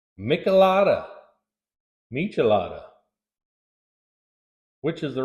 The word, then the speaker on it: michelada: references on the web it is pronounced with a CH and not a k so michelada it is all right